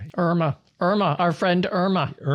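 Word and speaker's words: IRMAA: And and Irma in this case is spelled a little bit differently than uh most Irmas we know out there. It's uh IR M A which stands for income related monthly adjustment amount.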